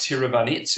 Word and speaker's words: Tiravanija: It is pronounced Tiravanit, even though it's written Tiravanija, Riakrit Tiravanit.